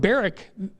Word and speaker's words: Barak: He offered Barak the opportunity, but he said, I won't go unless Deborah goes.